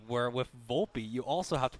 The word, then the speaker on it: Volpe: Okay, this part here, I have no baseball analysis whatsoever for O'Hoppe, but what I will say, O'Hoppe, you have to pronounce the E, where with Volpe, you also have to pronounce the E.